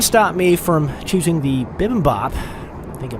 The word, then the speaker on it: bibimbap: That didn't stop me from choosing the bibimbap. I think I pronounced that right.